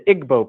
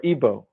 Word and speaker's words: Igbo: in Nigeria you have the Igbo people or IBO pronounced either way there's 40 million of